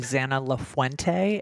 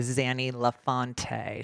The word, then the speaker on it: Zanna Lafuente: she pointed out that you should probably look for a Zanna lafuente instead of a zany lefante so you butchered her